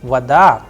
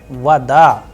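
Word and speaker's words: вода: But in the word vada it is rising at the end because the udar is on a not on o. So vada and that is why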